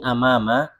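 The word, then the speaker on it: أمام: Amama itu hamzahnya di atas ya. Kalau hamzahnya di bawah itu bacanya apa?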